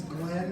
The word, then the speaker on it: Glenn: Glenn Lurie. Good evening, everyone. Thanks for coming out. My name is Glenn, that's spelled with two N's. The second N is silent.